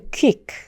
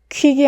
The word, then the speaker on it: quick: 하지만 여러분 quick은 콩글리시 발음입니다. QUI도 제가 아까 말씀드렸던 것처럼 퀴 이렇게 한꺼번에 발음이 되지 않기 때문에 이 단어는 quick이 아니라 quick, quick, quick 이렇게 발음해 주셔야 돼요.